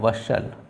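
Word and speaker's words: bustle: देखो एस टी एल ई यहां पर देखो एस टी एल ई आपका एक साथ में आया तो आपका टी साइलेंट हो जाएगा इसको पढ़ा जाएगा आपका वसल ठीक है क्या पढ़ेंगे वसल ठीक है टी नहीं पढ़ा जाएगा क्लियर नहीं अब इसी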